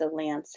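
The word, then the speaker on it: LAANC: through these apps and they call this laa and see they pronounced a lance has the official faa pronunciation but it's an app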